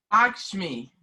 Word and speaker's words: Lakshmi: Lakshmi. Like a lock.